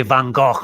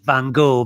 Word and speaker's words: Van Gogh: were the works of I always say Van Gogh. I know you Americans say Van Gogh, but because Scots have this sound in our language, Van Gogh, I'm sure they say Van Gogh in Holland and not Van Gogh.